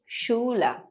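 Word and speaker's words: Schule: भी बहुत आसान है और वह है द शूला द शूल जी हां इसका अर्थ है स्कूल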